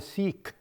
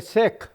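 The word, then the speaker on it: Sikh: as oh I'm a seik no it's a sick it I know it rhymes with sick SI i c k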